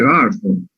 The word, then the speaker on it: Burton: Otra sintomatología relevante de la intoxicación con plomo es el ribete de Barton, o Burton, como se pronuncia, como se escribe.